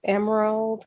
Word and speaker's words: M'rald: social media i can be found um as emerald on facebook my name is spelled m-r-a-l-d um i can be